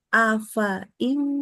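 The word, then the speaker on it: أَفَإِين مِّتَّ: Nah, di sini tulisannya afa immat. Oke. Tulisannya tuh seperti ini. Ada ya-nya itu ada lingkaran kecil ya. Tetapi kemudian waktu dibaca tidak ada nampak fungsi huruf ya-nya.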